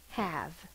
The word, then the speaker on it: have: only protecting the v in the english language there are no words that end in a v or a j the e has to come after the v that's why in the word have have that's a short a ah the e is only protecting the v at the end of the word if we did not